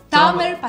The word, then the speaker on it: Tamil Pasanga: Tamil Pasanga. Tamil Pasanga. Ah. We are pronouncing it right.